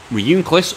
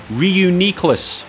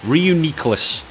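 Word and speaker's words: Reuniclus: ass so we've got Ryu cliff or the perhaps the proper way of pronouncing as I've just found out today is reuni CLIs Ryu Nicolas apparent that's the way the anime pronounced it and what the anime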